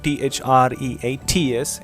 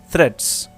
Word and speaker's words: threats: world faces many threads the word t-h-r-e-a-t-s is to be pronounced threats threats patient eagle it's our